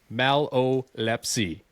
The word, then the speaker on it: Malolepzy: I had it written down here with the little hyphen so I knew knew how to say it. You obviously say it a little bit quicker, but no, this is a pretty cool episode.